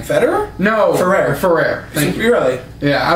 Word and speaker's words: Ferrer: I can't pronounce his name. Federer? No. Ferrer.